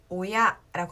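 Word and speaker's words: 親: 부모를 한 글자로 여러분들 한자로는 한 글자 뭐라고 읽어요? 우리 오야라고 합니다.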